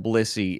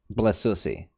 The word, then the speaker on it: Blissey: You understand that Blissey is a Pokemon, right? Blissey. Yeah, Blissey. Blessussy. What? You're adding... You don't need to add extra syllables to this.